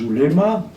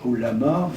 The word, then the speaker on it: ouléma: Alors, je dis ouléma, ça, en arabe ça se prononce oulama, mais je ne vais pas faire des vocalises. Je dis les oulémas parce que c'est le terme avec lequel les Européens sont les plus familiarisés.